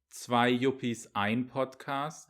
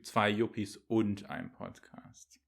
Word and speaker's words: zwei Yuppies ein Podcast: It's zwei Yuppies ein Podcast Oh. and not zwei Yuppies und ein Podcast.